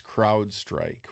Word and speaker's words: CrowdStrike: It's CrowdStrike with an R.